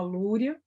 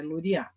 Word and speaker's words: Luria: gente Alexander romanovich luria a gente fala luia e aí acentuação tá área a sílaba tônica pronunciada tá errado é Lori a lori a ele vai